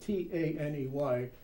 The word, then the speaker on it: Taney: Taney? Yes, Roger Taney. It's spelled T-A-N-E-Y, but it's pronounced Taney.